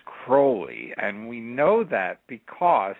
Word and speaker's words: Crowley: his name is pronounced crowy and we know that because he wrote a silly little poem and it rhymes with holy so he gave us